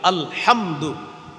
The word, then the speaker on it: আলহামদু: বিশুদ্ধভাবে শিখা চেষ্টা করা হামজা লাম জবর আল হা মিম জবর হাম দাল পেশ দু আল হামদু এই যে আপনি আলহামদু